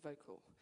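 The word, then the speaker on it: Vokle: this uh this great program called vocal um using and it's spelled differently it's helped me yeah vocal spell v k l e and when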